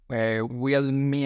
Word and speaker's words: Willemien: It's called, I don't know if the pronunciation is correct, but it's Wheel Me and Brand. It's like wheel as in wheel and me and brand.